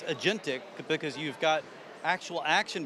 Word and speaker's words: agentic: It's agentic because you've got actual action being taken. I like the fact that it fills out the ticket for you. Yes, yeah, it's agentic under the hood.